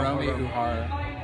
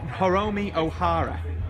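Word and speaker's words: Hiromi Uehara: Hiromi Uhara. Oh, Hiromi Ohara. Uhara, yeah. How do you spell that?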